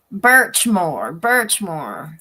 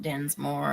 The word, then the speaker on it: Birchmore: I keep wanting to say her last name wrong. I'm wanting to say Dinsmore, Sandra, in Massachusetts. I don't want to say it wrong. Birchmore, Sandra Birchmore, not Dinsmore.